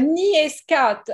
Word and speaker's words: NEA Scout: julie how do you say it yourself uh nia scott and you know after we chose the name